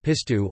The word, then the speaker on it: pistou: Pistou, Provençal, Pistou, classical, or Pistou, Australian, pronounced Pistou, or Pistou sauce, is a Provençal cold sauce made from cloves of garlic, fresh basil, and olive oil.